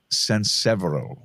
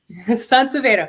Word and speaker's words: SanSevero: SanSevero. SanSevero, but it's okay.